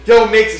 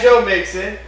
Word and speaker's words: Joe Mixon: Joe Mixon. Sorry. They had Joe Mixon. They let him go and he was so You know Joe Mixon?